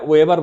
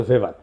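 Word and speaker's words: Weber: এটা ওয়েভার বলে অনেকে। এটা উচ্চারণ আসলে ভেভার।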